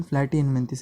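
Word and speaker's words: Platyhelminthes: Flat, उसका pronunciation प्लैटीहेलमिन्थिस है। Flirty मतलब फ्लैट मतलब क्या?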